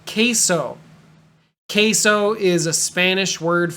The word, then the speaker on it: queso: oh I want queso but because it's Spanish it sounds like a k k so queso uh if you ever